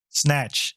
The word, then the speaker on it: Znatch: ScrMz, can you pronounce Znatch like 3 times in a row? Snatch, snatch, snatch.